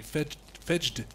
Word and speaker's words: Fejd: It has a J in there, so it would be Fedged.